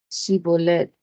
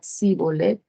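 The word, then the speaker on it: shibboleth: Si respondían que no, les pedían que dijeran Shibolet. Y si el fugitivo decía Sibolet, porque no podía pronunciar esa palabra correctamente, le echaban mano y lo degollaban junto a los vados del Jordán.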